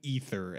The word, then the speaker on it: Aether: Or Frozen Ether, as the pronunciation guy now says. I think it's Ether.